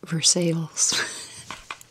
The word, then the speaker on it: Versailles: this is called spelled Versailles but it's it's pronounced Versailles so anyway I laugh every time my dog